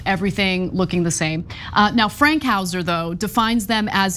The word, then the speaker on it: Fankhauser: I thought it was Frankhauser. There's you're no right. R. It is Fank, F-A-N-K, Fankhauser.